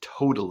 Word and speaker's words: total: It's total eclipse. Now, it's not like Milton forgot that total has a stressed first syllable and unstressed second syllable and messed up.